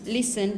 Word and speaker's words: listen: fasten yeah for example you listen listen you don't pronounce the T in the middle when you have a